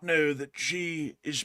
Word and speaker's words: Xi: And also, I got to say I didn't know that Xi was pronounced like that. I actually thought it was Xi as in like the English X pronunciation.